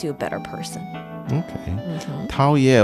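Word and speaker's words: 陶冶: 陶冶 almost sounds like 讨厌. which has a very different meaning. Very different meaning and slightly different pronunciation.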